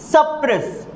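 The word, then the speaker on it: suppress: Pronounce करके देखिए आप, जहां पे एक्सेंटेड सिलेबल लगा होता है उसे अपने को जोर लगा करके बोलना होता है, और जहां पे अनएक्सेंटेड सिलेबल होता है उसे धीरे से प्रोनाउंस करना होता है।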